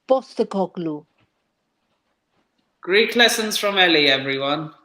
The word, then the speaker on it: Postecoglou: Actually, the P is pronounced as a B, so it's Postecoglou.